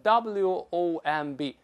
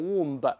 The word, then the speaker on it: womb: 你像子宫 womb w o m b，不能读成 womb，要读成 womb 就好了，等等等等啊。